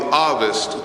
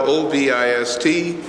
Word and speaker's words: Ovist: There is in history, if you do the research again, a theory called the Ovist theory. It's spelled O-V-I-S-T. It's pronounced A-H-V-I-S-T.